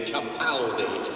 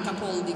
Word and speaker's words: Capaldi: everyone in England Anyway We in Scotland agree with the Italians the pronunciation is Capaldi and so for